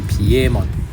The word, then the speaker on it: Piemon: So if you pronounce it by the English way, it should be called Piedmon because it's based on Pied Piper. But if you use the Japanese name, it should be Piemon.